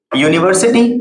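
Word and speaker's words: university: सकते हैं अपन example, यूनिवर्सिटी, यूनिवर्सिटी की शुरुआत किससे हो रही है, यू से, जो कि क्या है, वॉवेल है, लेकिन बोलते समय जो उसका प्रोनाउंसिएशन होता है, उच्चारण होता है, वो होता है यू, और यू को वोवेल नहीं माना जाता है बोलते समय हिंदी वर्णमाला के अनुसार।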